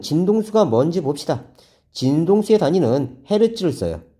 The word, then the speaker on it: 헤르츠: 진동수의 단위는 헤르츠를 써요. 헤르츠. 헤르츠라고 읽어요.